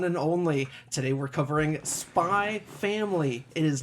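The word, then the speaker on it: Spy × Family: savior the one and only today we're covering spy family it is not spy x family sure yeah yes don't do it just like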